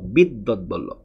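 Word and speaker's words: বিদ্বদ্বল্লভ: উচ্চারণটা লিখে দিয়েছি, এই উচ্চারণটা মানুষ করতে পারে না। বিদ্যৎবল্লভ, বিদ্যৎবল্লভ।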